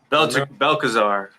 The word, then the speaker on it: Belshazzar: Who interpreted the writing on the wall for King Belshazzar? Belkazar.